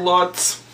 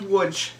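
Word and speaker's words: Łódź: Polish girl that I knew from wood which is spelled Lots but wait how's it pronounced l o TZ is pronounced wood really I thought it was lots no it's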